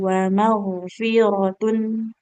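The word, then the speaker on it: ومغفرة: Jadi huruf wain termasuk huruf istilah. Huruf yang ketika diucapkan dia harus tebal ya seperti itu. Wa maghfiratun.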